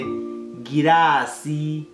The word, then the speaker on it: girasi: In my language, it doesn't change. So we say girasi. You say glass. We say girasi. So you do the GL very.